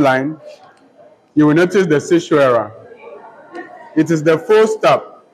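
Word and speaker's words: caesura: Sishwara is spelled C-A-E-S-U-R-A.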